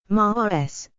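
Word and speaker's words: Mārs: In ancient Roman religion and mythology, Mars, Latin, ma with macron rs, pronounced Mars, is the god of war and also an agricultural guardian, a combination characteristic of early Rome.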